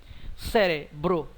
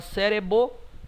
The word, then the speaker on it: cérebro: ouvindo o som bro cérebro a consoante B É pronunciada sim a consoante R É pronunciada sim você não fala CBO nem cero é cérebro as duas consoantes são pronunciadas e estão na mesma sílaba desta mesma forma como